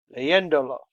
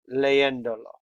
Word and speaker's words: leyéndolo: Now, if you add a pronoun, and it would fall on the next to last syllables, it would be leyéndolo. You don't want that. That would change it to here. So to maintain proper pronunciation, add an accent mark on the E. That still keeps it to leyéndolo.